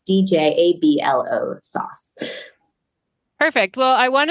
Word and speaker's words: Djablo: It is the word Djablo. Diablo, Yeah. but in the region that my dad is from in the Philippines, all the I's are J's.